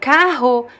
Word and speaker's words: carro: But carro is always pronounced the same way, is always pronounced here, carro. It could be, the R could be a little bit softer or stronger, carro, but always on your throat, right, carro.